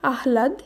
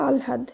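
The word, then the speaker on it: আহ্লাদ: শুদ্ধ উচ্চারণ হবে দিনলিপি বানান দেখে আমাদের মনে হতে পারে শব্দটির শুদ্ধ উচ্চারণ হবে আহলাদ কিন্তু সেটি নয় এর শুদ্ধ উচ্চারণ হবে আলহাদ কারণ হ এর সঙ্গে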